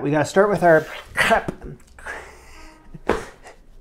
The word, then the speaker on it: crêpe: with our crap yeah I'm trying not to say crepe it's American pronunciation I want to stay far away from that today so I'm working on my crap cup I'm just gonna go with crap oh me we need